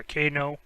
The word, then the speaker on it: Cano: K no. Like kangaroo, yeah, Kano.